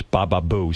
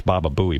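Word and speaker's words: Baba Booey: But Ian Bolter tweeted Palter said enough of this Baba Buu stuff. And I I tweeted him back and said, "It's Baba Buoie, by the way, as long as you're going to spell it out."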